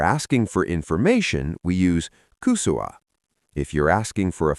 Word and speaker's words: kysyä: If you're asking for information, we use kusua.